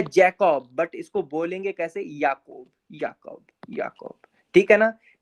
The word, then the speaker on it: Ball: आपने इंग्लिश में जाना होगा, इसको बॉल कहते हैं, इसको बॉल कहते हैं। ये वही बॉल है जिससे आप लोग खेलते थे, बट इसको जर्मन में प्रोनाउंस कैसे करेंगे? ये हो जाएगा बाल, बाल, बाल।